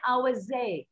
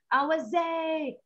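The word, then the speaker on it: howzat: हाँ, how's that का जो colloquial version है वो उसको कहते हैं AUSAT. ठीक है? AUSAT or AUSAT. ठीक है? Both way it is pronounced.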